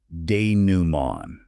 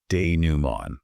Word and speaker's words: dénouement: Dénouement. The T at the end is completely silent. Dénouement. I want you to try saying it aloud right now. Dénouement.